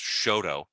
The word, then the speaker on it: Chouteau: Louis where it's like, Chouteau is pronounced Shoto.